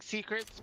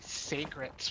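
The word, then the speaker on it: Seikret: right but also so we keep saying Secrets but it's actually sacrs when they pronounce it in the game time for a quick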